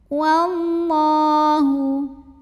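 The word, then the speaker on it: والله: Wallahu. Lam pada lafaz Allah dibunyikan secara tafkhim sebab huruf sebelumnya waw barisnya ini fathah. Maka cara baca lam jalalahnya dibunyikan dengan menebalkannya. Wallah, pangkal lidah kita naik.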